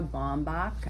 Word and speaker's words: Baumbach: This is co-written by the husband-wife team of Noah Baumbach. I would say his name wrong.